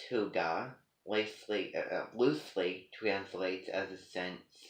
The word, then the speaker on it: Hygge: Hygge, pronounced Huga, Huuga, which sounds like, something, that what does that name sound like to you?